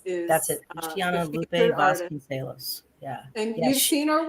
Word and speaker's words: Luciana Lupe Vasconcelos: Luciana Lupe Vasconcelos is that's it. Luciana Lupe Vasconcelos.